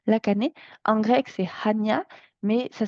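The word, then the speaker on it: Chania: une explication historique la cané en grec c'est Hania mais ça s'écrit C Hania s'écrit C A n I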